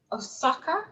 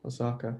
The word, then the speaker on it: Osaka: So your newest single, Osaka, is that how you say it? Yeah, like the Japanese city, Osaka.